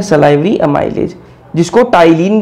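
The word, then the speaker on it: ptyalin: भी बोलते हैं, टाइलिन, ये पटाइलिन मत बोलना है इसको, टाइलिन ही है। और जब हिंदी में आपको लिखा हुआ दिखाई देगा तो टाइलिन ही लिखा हुआ दिखाई देगा। पी यहां पर साइलेंट है भाई, टाइलिन, हिंदी में भी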